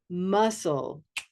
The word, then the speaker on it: muscle: Muscle, muscle, a cup of mustard muscle.